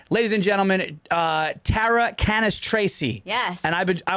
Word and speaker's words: Cannistraci: in the ranks ladies and gentlemen uh Tara canis Tracy yes and I've been I was so worried